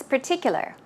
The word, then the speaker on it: particular: As you see, it's P-E-R, per, per, and in this case, there is no R sound.